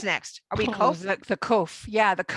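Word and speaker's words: קוף: So it's a kaf and a vav put together, and that's called kof. Or some people pronounce it kuf.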